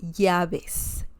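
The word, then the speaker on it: llaves: um and this one yaves yaves means Keys now ya the V sound remember in Spanish um usually people Spanish speakers do not say V as in Victor for example in English right uh the V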